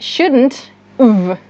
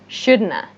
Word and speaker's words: shouldn't have: Shouldn't have. Shouldn't have. Shouldn't have. Shouldn't have. Or, even more natural, shouldna.